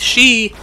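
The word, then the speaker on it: 四: case you don't know one of the main pronunciations for four in Japanese is she and death is pronounced the same way in Japanese anyway just your unlucky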